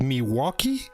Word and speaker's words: Milwaukee: what what is it Milwaukee yeah Milwaukee Milwaukee ah but you you do pronounce the l oh absolutely absolutely yeah okay and I